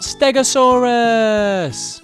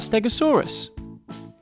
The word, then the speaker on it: Stegosaurus: today we're going to learn all about stegosaurus how do you say that again stare go saw russ can you say it with me stare go saw so what do we know about stegosaurus it was found in the united states and